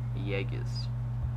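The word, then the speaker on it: Jäger: Jaegers, that's how it's pronounced.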